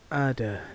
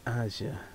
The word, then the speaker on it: Ada: It's Ada, not Aja.